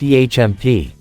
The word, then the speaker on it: EMP: Caboose cleared his throat it's pronounced ehmp an em would leave